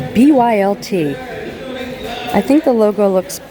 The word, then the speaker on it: BYLT: BYLT. It's like an activewear brand. New to me. I know some of you guys knew about it, and I guess it's pronounced built.